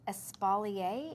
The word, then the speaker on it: espalier: Hey, Carmen says espalier is another name. Oh, right. Is that how you pronounce that?